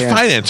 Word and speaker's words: Fidance: Ian, is it Fidance or Fidance? How do you say it? It's such an awkward name. Fidance. Because it sounds so much like finance with an unnecessary D. So it's Fidance.